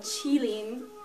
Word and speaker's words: Qilin: it a kidding now Keating is Japanese pronunciation of the same exact word and it actually comes from Chinese culture so it's actually called chillin but like that's an